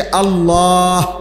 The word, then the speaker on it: আল্লাহ: শেষে আল্লাহ, শেষে একটা গোল হা আছে, ছোট হা। আল্লাহ মানে আল্লাহু। তো হুটারে শ্বাস ফেলাইলে হলো আল্লাহ।